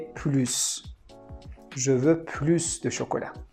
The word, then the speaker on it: plus: For example, we say elle est plus sympa que sa sœur. So here we don't pronounce the S because sympa is an adjective.